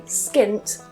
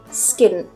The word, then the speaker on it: skint: Notice at the end there as well, I cut off that t. You might hear native speakers doing that. So instead of saying skint, native speakers might say skint, skint. Not to be confused with skin, skin.